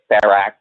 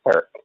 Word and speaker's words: Ferric: Even though during the stream they said Ferrac or Ferroc or something like that, that makes not really much sense. It's Ferric. It's always been Ferric.